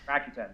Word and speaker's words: Rakuten: I recently expanded to the ra the rakutin. Is that how you pronounce that? Rakuten. Yes. Yeah.